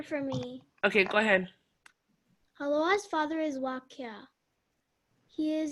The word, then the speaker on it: Hāloa: It's pronounced Hāloa's, right?